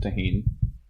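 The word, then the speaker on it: Tajín: So it's spelled Tajin, but it is a Mexican spice. So I'm assuming it's pronounced tahin.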